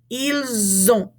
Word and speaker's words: ils ont: usually isn't pronounced, and we're going to cause it to be a Z sound in front of this O. Ils ont répété.